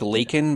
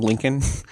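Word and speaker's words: Laken: It was like Lakin, but he called him Lincoln.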